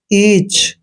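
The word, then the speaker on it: each: अलविदा next word है ई ए सी एच दोस्तों ई ए का उच्चारण ई करते हैं और सी एच को च पढ़ते हैं मींस ईच और ईच मींस होते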